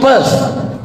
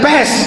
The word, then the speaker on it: Perth: I am going to Perth. Bukan pest, kalau pest penyakit. Perth.